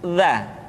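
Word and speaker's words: ذ: Selanjutnya huruf za. Diucapkan dengan menyentuhkan ujung lidah dengan dinding dua gigi seri bagian atas seperti kita mengucapkan huruf tha. Ujung lidah boleh ditampakkan ataupun tidak nampak.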